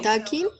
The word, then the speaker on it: talking: Pilas con la pronunciación también de ese verbo, porque cuando vamos a pronunciar ese verbo le quitamos la L. Nunca pronunciemos la L. ¿Listo? Talking.